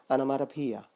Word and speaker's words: onomatopoeia: The next figure of speech is onomatopoeia. I know it sounds very weird and funny, but then let me say once again how it sounds.